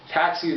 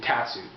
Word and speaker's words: Tatsu: Tatsu, the bass player, that's how it's pronounced, I believe. Tatsu.